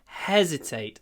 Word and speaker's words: hesitate: hesitate for a moment hesitate the stress is on the first syllable it's notate it's hesitate hesitate how do we get